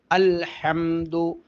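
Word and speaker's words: الحمد: വരണം ഹാ ഹാ ഹാ ഹാഉ അല്ല ഹാഉ അല്ല ഹ അൽഹംദു അൽഹംദു അൽഹംദു ഇങ്ങനെ ഹാ ഉച്ചരിക്കണം പലരും അൽഹംദു അൽഹംദു എന്നാണ് പറയുന്നത് ഹംദ് അല്ല ഹംദാണ് അപ്പോൾ ബിസ്മിയിലുള്ള ബ ഹംദിലുള്ള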